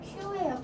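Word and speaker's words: きゅう: 그 다음에 하지 그리고 원래는 Q예요. Q. 근데 그냥 간단하게 쿡 하는 경우도 있고요.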